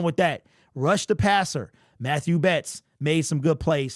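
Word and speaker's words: Mathieu Betts: hear him mat two other places but it's Matthew that's how you pronounce his name Matthew Betts stock up sacked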